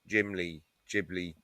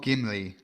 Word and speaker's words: Ghibli: Ghibli. It's not Gimli, like you said before.